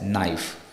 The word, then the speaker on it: knife: k for letter K the letter k is always silent when it precedes the letter N in a word for example knife k i f so the K is silent it's n i f so we pronounce it as knife and the same thing